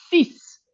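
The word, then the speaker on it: six: La X final suena como ese solo ahí. Por eso el seis sis, por eso el 10 dis. Se pronuncian como S, se escriben como X porque así lo decidiaron.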